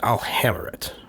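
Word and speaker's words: Alhammarret: on the entire plane uh his name is Al Hammer you spell that a l h a m m a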